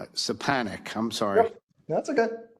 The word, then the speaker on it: Stefanik: Stefanik. Stefanik. Right, Stefanik, I'm sorry. Yep, that's okay. I butchered your name 3 different times, sorry.